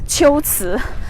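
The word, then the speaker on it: 龟兹: so it should be the right way to pronounce the two characters is chiltsu so shiots is the ancient name of kucha the place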